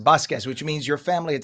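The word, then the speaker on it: Vazquez: VA v a z quue e z circus v a z q e z vas but it's pronounced basquez which means your family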